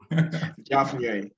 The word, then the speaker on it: Javnyuy: Javnyuy. So Javnyuy. try to pronounce the NYUY as NUI.